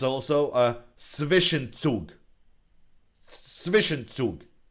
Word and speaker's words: Zwischenzug: Zwischenzug.